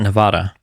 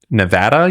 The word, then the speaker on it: Nevada: uh in Arizona and Nevada I think that's uh that's good why do some people call it Nevada Nevada you mean it's Nevada it's weird I know it's not Nevada it is Nevada it's Nevada it's Nevada Nevada